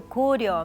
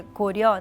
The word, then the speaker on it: Goryeo: Goryeo, né, que ela pronunciou Goryeo, mas é Goryeo, né, oxítono, né, Goryeo.